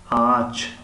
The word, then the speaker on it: ağaç: اما ağaç طرز تلفظ می شود که آ گویا که آ را زیاد کشیده ایستاده ایم.